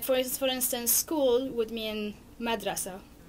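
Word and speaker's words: مدرسة: They're not actual vowels, except for the end one which is -- we write as a T but we don't pronounce. So it goes as an ah also at the end.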